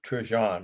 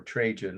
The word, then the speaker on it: Trajan: And this is the column of Trijon, or Trajan, as some people pronounce it, Trajan.